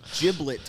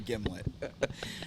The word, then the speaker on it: gimlet: I don't know why, but I'm craving a gimlet. Everybody mispronounces and calls it giblets. They never heard of like giblets and gravy.